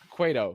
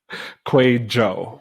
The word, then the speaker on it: Kwadwo: we hit live but quo right Quay Joe with a J Joe yeah almost had it sheesh but don't worry